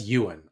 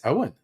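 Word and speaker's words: Eoghan: Well, that's Ewan, obviously. Oh, no, they're saying that's Owen. I thought it was Ewan.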